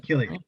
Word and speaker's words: Cillian: How do you pronounce his name? Killian. I think it's Killian. Cillian.